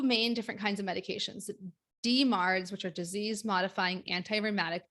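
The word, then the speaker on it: DMARDs: different kinds of medications demards which are disease modifying anti-rheumatic drugs so people pronounce that as just demards two two different kinds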